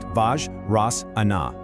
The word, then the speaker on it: Vajrasana: It's pronounced Vajrasana, and it actually translates to the thunderbolt pose.